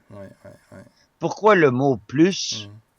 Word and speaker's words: plus: ouis pourquoi le mot plus à deux significations opposé si tu prononces le S ça veut dire beaucoup plus et si tu prononces pas le S ça veut dire il y en a plus y a plus rien